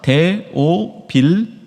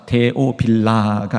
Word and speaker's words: 데오빌로: 이 각하가 누구냐면 3절에 보니까 데오빌로, 발음 잘하셔야 됩니다. 데오빌라가 아닙니다. 데오빌라 그러니까 무슨 빌라집 같죠?